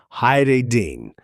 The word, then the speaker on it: hiding: Pronunciation, the I is a long vowel sound, hiding. Notice the D again gets that soft flap treatment in casual speech, especially in a phrase like, what are you hiding?